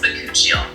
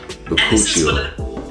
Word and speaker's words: bakuchiol: It's pronounced bakuchiol. Bakuchiol.